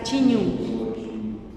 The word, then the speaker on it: chiñu: Chiñu, exacto, chiñu. No, pues el profe ya lo pronunció bien, chiñu. Pero lo escuchamos, profe. Chiñu. Exacto, como marcadito el chiñu.